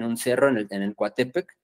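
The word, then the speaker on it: Coatepec: cerro en en el Cuatepec cerro de las serpientes cuatepet más bien sería la la pronunciación adecuada en aguat eh Y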